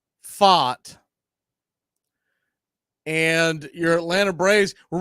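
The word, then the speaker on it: Pfaadt: of your Atlanta Braves Max freed versus Brandon fought although you will normally hear me refer to him as Fat Daddy it's PFA a DT but it's it's technically pronounced fought and your Atlanta Braves we're running the same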